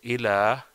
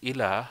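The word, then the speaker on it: إلى: But if we use instead of illa, if you say ila, la ilaha illallah, then it would not give the meaning of this but or except in Arabic, because you're not saying illa, you are saying ila, which is not what you want to say.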